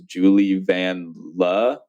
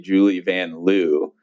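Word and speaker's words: Julie Vanloo: By the way, she said how her name is actually pronounced as Julie Van Le, I believe, but she was like, in America, they say Julie Van Loo.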